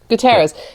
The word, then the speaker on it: Guterres: uh i wonder i'm gonna make sure i pronounce his name is it guterres yes guterres yeah guterres uh said that we're nowhere near